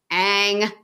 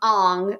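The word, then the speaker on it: Aang: and and especially with Ang I'm sorry the pronunciations in that film just drove me nuts in the movie they call him on but his name is ang in the in the cartoon his is I think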